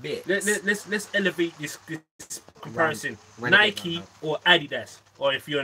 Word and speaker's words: Nike: Because we're in the UK, we say Nike. Yeah. But in America, where it was created, it's Nike.